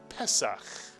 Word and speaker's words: Pesach: The first syllable is pronounced Peh, mitsuyan. It's the Pay with the segol under it. Peh. And the second syllable? Very good. Sach. Sach. The samech with the patach followed by a chet, making one syllable sach. You put the word together and you get Pesach. Pesach.